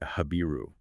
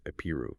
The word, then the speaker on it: Habiru: A group of people the Canaanite kings refer to as the Habiru, or sometimes pronounced Ipuwer.